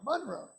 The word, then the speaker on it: Monroe: Monroe, with an accent on the Mon.